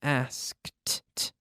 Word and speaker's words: asked: like all verbs ending in a K we have the T sound asked asked looked checked okay the K we get the we have to squeeze @ e sound in there there's no extra syllable but we're squeezing in that T sound asked checked look okay